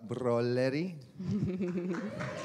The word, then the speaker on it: Broleri: have the great pleasure of introducing Broleri. Well pronounced.